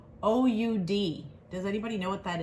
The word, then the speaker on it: oud: the herbaceous something in this candle that's called o-u-d does anybody know what that is i didn't